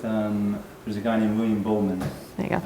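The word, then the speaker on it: Buhlman: I would start with, there's a guy named William Bowman. There you go. It's spelled B-U-H-L-M-A-N.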